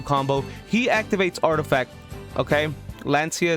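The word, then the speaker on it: Lancea: Lancia is how you say it, guys.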